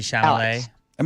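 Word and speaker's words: Chalamet: uh the the other not Chile or Timothy shal am I saying it right it's Timothy Timothy shalam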